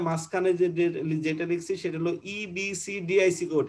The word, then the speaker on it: EBCDIC: আর 2 নম্বরে মাঝখানে যেটা লিখছি সেটা হলো EBCDIC কোড। এটাকে আলাদা আলাদা পড়বে, একসঙ্গে উচ্চারণ করার চেষ্টা করবে না। এটা হলো EBCDIC কোড।